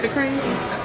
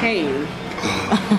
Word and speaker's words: Raising Cane's: Did you say the crane? It's the crane, right? Cane. I've been saying the name wrong this whole time. Excuse me. I'm giving the good props to the wrong people. Canes. Mm-hmm. And it's kind of like cocaine because it's kind of addictive.